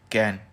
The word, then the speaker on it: Cairn: After Vodafone government losses retro tax case against कैन, जो CAIRN है ना, तो इसमें आर साइलेंट होता है तो हम इसको बोलते हैं कैन।